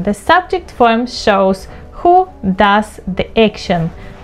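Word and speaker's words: dem: them do here again we pronounce the object form as do as well the same as the subject form but the spelling is different we spell it as d m d m do and then one people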